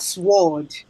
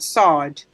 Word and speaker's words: sword: to understand some pronunciation not sword but sard not uh SWOT but